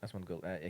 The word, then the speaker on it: Asmongold: Asmongold, you know? Who's it? Asmongold. Has Asmongold. Asmogold. Yeah, How do you spell it? Asmon, like Asmon. Osmond. OSMOND. OSMOND. OND, and then gold. Osmond Gold. Asmongold.